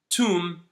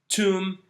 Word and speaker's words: tomb: So the second rule that we want to focus on today is whenever you have words that end in M and B, don't pronounce the B, only pronounce the M.